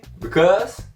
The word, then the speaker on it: because: Não pronuncie o E aqui. Because.